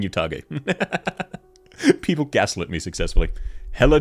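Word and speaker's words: Utage: generation oh I was right before and it's pronounced utag okay I'll go back to saying utag people gaset me successfully hell Chad enjoyer based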